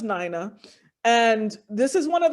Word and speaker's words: Nina: Du Bois, and her name was Nina Gomer Du Bois, and is pronounced Nina.